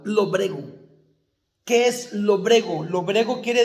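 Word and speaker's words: lóbrego: Lobrego, con acento en la O. Lobrego.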